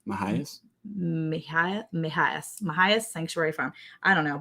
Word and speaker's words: Mejias: Because no, it has MEJIAS. So it's like Mahias Sanctuary Farm.